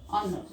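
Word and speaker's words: honour: Then honor. H-O-N-O-U-R. But H silent here. You read honor. So N honor.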